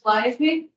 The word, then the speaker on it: Calliope: My name's Calliope, and so that's how you pronounce it.